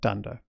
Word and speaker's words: dunder: They start with 2 underscores, they end with 2 underscores, and we pronounce that dunder.